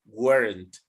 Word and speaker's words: weren't: yes the pronunciation guys you have to emphasize the t weren't worm emphasize the t t do the t sound warren warren when and